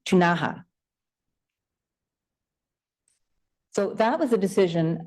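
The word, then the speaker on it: Ktunaxa: It's spelled K-T-U-N-A-X-A. I understand it's pronounced, or can be pronounced, Tunaha.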